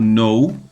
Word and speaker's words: know: O know, o verbo know, que é o verbo conhecer, saber. Eu não pronuncio o K, o encontro do K com o N, não é pronunciado.